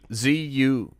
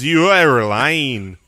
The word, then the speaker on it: Zuerlein: ZUERLINE. No, you're both very close. But I'm not telling you other than you were both wrong. Okay. Well, ZUEROLEIN.